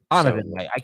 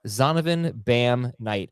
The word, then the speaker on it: Zonovan Knight: Donovan Knight. I'm sorry. I knew I butchered his name. Donovan Knight. I meant to put it in the notes. And sorry about that. Zonovan Bam Knight is his name.